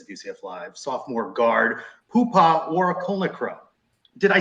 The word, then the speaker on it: Poohpha Warakulnukroh: But a bright spot this season is our next guest on the Sons of UCF Live, sophomore guard Poohpha Warakulnukroh.